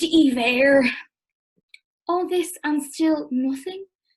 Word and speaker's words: Iver: as he gets to correct her and say it's pronounced ever all this and still